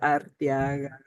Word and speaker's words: Arteaga: In English, that's okay. That's fine. But Arteaga. It's not like Art. It's the Ortegas, the people. There's three A's.